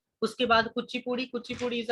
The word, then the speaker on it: Kuchipudi: और कुचिपुड़ी dance form की बात करें तो कुचिपुड़ी इज प्रोनाउंस्ड एज, जैसे मैंने बोल के बताया कुचिपुड़ी, ठीक है, लिखते कुछ और है, प्रोनाउंस इसे किसी अलग तरीके से किया जाता है।